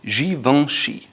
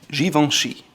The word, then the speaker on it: Givenchy: Now going back to French, it's called Givenchy. Givenchy. Givenchy. It's a little more difficult because you have the G and the C, and it's pronounced Givenchy, Givenchy, Givenchy.